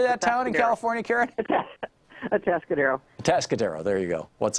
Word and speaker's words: Atascadero: Atascadero.